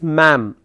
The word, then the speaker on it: ma'am: Madam has asked me madam. Madam. It's not madam. It's ma'am, sir or ma'am.